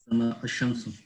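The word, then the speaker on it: الشمس: Ash-Shamsu. What about this one? Ash-Shamsu. We did not pronounce the al in this one. We attached the alif to the sheen right away.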